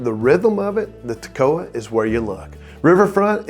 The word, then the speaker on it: Toccoa: And then there's the Toccoa River, Toccoa, and yes, that's how locals say it, 3 syllables, not the way most outsiders try it.